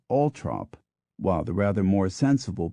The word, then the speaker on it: Althorp: in fact I think I will VI count Al t h o RP pronounces his name ult trop while the rather more sensible people living in